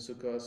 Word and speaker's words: Sukkos: People who learned Hebrew in the 30s and 40s often learned it with an Ashkenazi Yiddish accent. Shabbos and Sukkos and the Kaddish prayer would be Yiskadal v'Yiskadash.